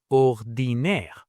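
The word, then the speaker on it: ordinaire: In French, that ending changes to a i e which sounds just like the English word air. So ordinary becomes ordinire.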